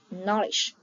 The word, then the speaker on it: knowledge: For example, the letter K in the word knowledge and L in the word for K and L are silent.